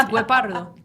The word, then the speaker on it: Guepardo: It is Guepardo. Heck yeah. The F-150 Guepardo. You gotta roll that I R.